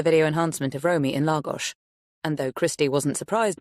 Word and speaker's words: Lagos: So, it's the main square in Lagos, spelt Lagos, but pronounced Lagos, on the Algarve.